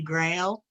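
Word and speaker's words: Grael: all earth elements is known as grail but it's spelt g r a e l but it's easy to remember because i always think the holy grail and the elemental color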